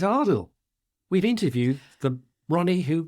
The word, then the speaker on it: Adil: this week is that he's been mispronouncing ardell's name hasn't he he keeps saying it saying Adel and it's Adel we've interviewed the Ronnie